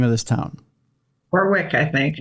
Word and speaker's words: Warwick: I don't I've never known how to pronounce the name of this town. Warwick, I think. Warwick, Rhode Island.